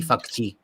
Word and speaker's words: Fauci: smiling authoritarian authoritarian and you got the pronunciation of fauci right it's actually fakchi anyways so so my